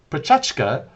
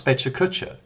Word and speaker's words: Pecha Kucha: a simple presentation style it's from the Japanese word for chit chat pronounced per touch go sometimes Pecha Kucha it's 20 slides 20